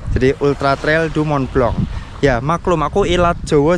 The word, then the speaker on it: Mont Blanc: Mont Blanc-nya itu bacanya sebenarnya Mont Blanc. Jadi Ultra Trail du Mont Blanc.